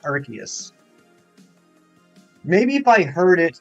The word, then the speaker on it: Arceus: specify Hefty 517 uh how do you pronounce Arceus is it Arceus Arceus or Arceus it's pronounced Arceus maybe if I heard